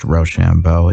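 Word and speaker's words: Rochambeau: A good watch word for being pronounced Roshambo. It sounded when pronounced quick, like rush on, boys.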